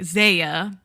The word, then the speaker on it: ZE:A: turned actor because he's from the idol group ZE:A and I don't think I'm pronouncing that right. ZE:A.